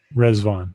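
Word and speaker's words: Riḍván: many days is the festival of rizzban is that how you say it yeah resvon yeah um so people said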